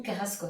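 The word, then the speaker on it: Carrasco: Bonjour, je pense que j'ai prononcé bien leur nom. Voilà. Yan Carasco, c'est ça ?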